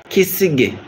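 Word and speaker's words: Kisenge: Say that name, Kisige.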